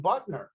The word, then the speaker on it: Butner: Yeah, So- but that all happened, Red, when they moved him from Butner. And that was why they You supposedly call it moved him. Butler?